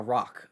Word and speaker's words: roc: they saw was essentially like a rock, or I don't know if you know what that is. ROC, or like it's typically how it's spelled, or a thunderbird, pretty much.